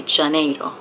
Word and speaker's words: Janeiro: this would be so i just learned that they pronounce it i saw a youtube commercial for this brand and it's in the song it's sold sol de janeiro janeiro they say janeiro this is the brazilian is it joya shampoo